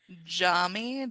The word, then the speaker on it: Jaume: which is directed by a person, whose name, Jamie Collett Sarah, I yes, believe. I believe that's yes, how you pronounce it. Jaume.